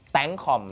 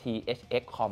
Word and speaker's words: ThxCom: ที่ Facebook นะ ครับ เสิรช เลย ฮะ thxcom tcom นะ ครับ ไม่ ได้ อ่าน ว่า thxcom นะ ฮะ โอเค นะ ครับ หลาย ๆ คน